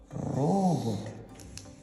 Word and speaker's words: робот: Робот в нашому випадку це перший робот місяцях хід. Куди падає наголос слові робот? Робот на першу.